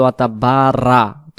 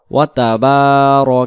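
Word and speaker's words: وَتَبَارَكَ: ওয়াবিহামদিকা ওয়াতাবার কাসমুকা এই জায়গায় আমরা যদি বলি ওতাবারা র অক্ষরটাকে রা উচ্চারণ আছে। এটাকে র জবর র বলে উচ্চারণ করতে হয়। কারণ র জবর র জবর র জবর র ওয়াতাবার কাসমুকা ওয়াতালা জাদ্দুকা ওয়াতালা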